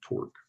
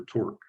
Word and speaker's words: torque: Now, the way you pronounce it is such that it rhymes with the word fork. So just think of fork when you're pronouncing torque.